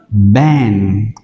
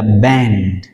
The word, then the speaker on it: band: Nhiều bạn đọc là ban thì không phải, đây là band, band.